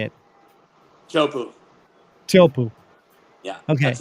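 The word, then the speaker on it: Teahupo'o: But yeah, it's spelled Teahupu, but it's Tahitian way to say it is Chopu.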